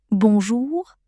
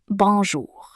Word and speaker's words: bonjour: French words is that you generally stress the last syllable of the word. So, you say bonjour. Rather than bonjour. The J in French is quite soft, and the letter R at the end can be a little tricky to pronounce at first. But, once you get it, it's pretty easy. It's almost like you're saying an H sound at the end of the word bonjour, but it's a bit harsher than a normal H.